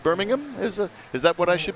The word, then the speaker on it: Birmingham: Oh, I'm told that Birmingham is pronounced differently than Alabama's. Sorry. I've been saying Birmingham. It's Birmingham?